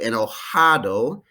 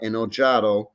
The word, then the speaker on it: enojado: would say estoy cansada a spanish j is like an english strong h so estoy en el hado not enojado and estoy triste sad